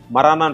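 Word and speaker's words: marijuana: அதை வந்து லீகலைஸ் பண்ணிட்டாங்க மரானான்னு சொல்லுவாங்க நம்ம ஊர்ல மரிஜுவானான்னு சொல்றோம் இல்லையா அதனுடைய உண்மையான உச்சரிப்பு வந்து மரானா அது வந்து ஒரு மெடிசினல்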